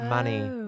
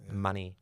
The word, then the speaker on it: Mani-Fest: And I went, "Many?" Oh, okay. People think Manifest is Manny as in Manchester.